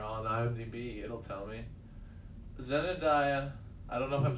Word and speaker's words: Zendaya: i'm saying it right is it just zendaya i'm saying zenodaya though that's not like jebediah but i've been said of that zendaya that's is that that sounds more right i'm going to say